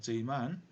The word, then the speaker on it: Zeeman: Zeeman, pronounced Zeeman effect.